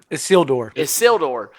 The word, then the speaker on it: Isildur: My sad sack, and I might mispronounce it too. Is it Isildur? Isildur.